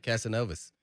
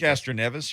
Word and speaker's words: Castroneves: that's going to be here this weekend right casanovas is that the name that's how you pronounce it castroneves you were going to catch a nevis okay